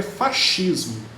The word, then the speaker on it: fascismo: Na verdade é fascismo, tá? Esse SC, ele é pronunciado como um chiado, né? Fascismo, tá?